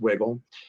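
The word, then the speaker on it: Wigle: wolf a company called wiggle out of pittsburgh w-i-g-l-e but it's pronounced wiggle and dad's hat just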